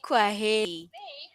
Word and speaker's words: kwaheri: In Swahili, we say kwaheri. Kwaheri. No, you know this. Kwaheri. Okay. Yeah, yeah. So I also reply with Kwaheri, Uh-huh. right? Okay, Kwaheri.